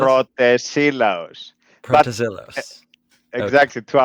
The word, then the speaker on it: Protesilaos: Is it Protozillos? Is that how you pronounce it? Pretty close, yes. It's Pretty close. Protesilaos.